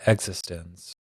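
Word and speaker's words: eXistenZ: It's spelled Existen. Existence. I think it's actually in the movie they pronounce it Existence.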